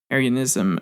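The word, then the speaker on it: Arianism: of issues there and I hope I'm pronouncing it right that's the way it presents it's not like Aran not like the Aryan race but aryanism uh is uh again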